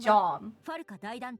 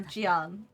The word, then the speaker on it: Jean: Uh yeah, sometimes Jean is pronounced as John or Jian. It depends on like where where the name is from.